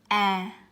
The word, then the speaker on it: a: So with the first letter, the way we pronounce it is a. So in order to pronounce this word, I think it's kind of really similar to simple in English. It's like cat, it's like cat, okay?